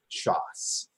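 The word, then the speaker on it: ש״ס: But that's how you would say that word, shas, with an S sound at the end.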